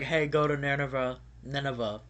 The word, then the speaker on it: Nineveh: Nineveh, I think is how you pronounce it.